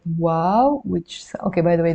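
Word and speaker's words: و: and finally we have the letter wow the name of the letter is wow and the sound is W as in window or o as in Boots so it's a big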